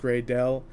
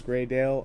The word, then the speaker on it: Greydle: you know say it cuz there's two different you know ways of pronouncing it currently because it's two different names it's gry Dale and is a gry doll um so basically different